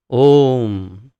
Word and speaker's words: ओम: ओम, ओमकार वास्तव में 3 शब्दों से निर्मित है। अ, उ और आधा म, जब इसका उच्चारण होता है तो ओम ऐसे उच्चारण होता है। अ, उ और आधा म, मकार आधा, तो इसे जब जोड़ते हैं तो ओम ऐसी ध्वनि उत्पन्न होती है।